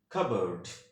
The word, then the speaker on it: cupboard: American ইংলিশে correct প্রনাউন্সিয়েশনটা হবে হচ্ছে কাবার্ড। ঠিক আছে, আমি আবার বলছি কাবার্ড, ওকে।